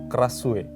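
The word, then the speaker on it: Krasue: Ada nama hantunya itu Kasue. Krasu. Krasu atau dibacanya Kasu. Spellingnya Kasue.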